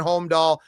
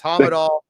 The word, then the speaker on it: Hamadal: So I've been saying Homedal. It's not right. It's Hamadal.